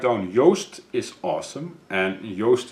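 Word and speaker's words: Joost: Yost is awesome and Yost is spelled J oh oh SD is awesome your sister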